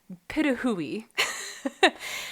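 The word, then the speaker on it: pitohui: So there's one kind of bird called the hooded pituhui, which it's spelled as patui, and it's not pronounced that way. And it positively breaks my heart, but it's the pituhui.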